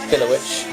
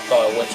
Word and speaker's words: Filowich: We had Filowich, as he's called. I think it's spelt like Firewitch, but I'll say Filowich because that's what they say.